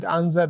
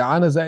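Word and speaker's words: عنزة: But the anaza is a stick, small stick the Prophet ﷺ used to hold. So the way to pronounce it is anaza, not anza.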